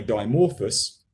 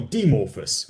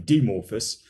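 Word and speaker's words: Dimorphos: year by the way dimorphous uh sorry demorphus i should pronounce it correctly demorphus but we believe it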